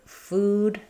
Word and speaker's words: food: And the word food has the oo vowel. I call that the new shoe vowel.